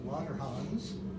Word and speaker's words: Langerhans: And the pancreatic islets, the islets of Langerhans, to say his name properly, produce insulin and glucagon.